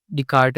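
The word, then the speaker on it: Descartes: नहीं मैं स्पेल सही कर रहा हूं। एस साइलेंट है।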